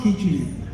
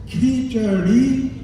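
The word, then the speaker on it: kheer: dish that president Trump just described it's not KY it's ker and the pronunciation of your opponent's name is not KLA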